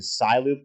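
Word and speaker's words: Cyloop: I think it was renamed to Cy Loop, but it's spelled CY, like Cyber Loop.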